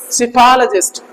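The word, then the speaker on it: psephologist: ये क्या है आपके सिफल जिस्ट सेफोलॉजिस्ट सिफल पी साइलेंट रहती है इसमें ठीक है ना ठीक है ना सी सी फ फ अच्छा इसमें फो नहीं पढ़ेंगे फ कॉफी वाला सिफल सिफल जिस्ट सिफल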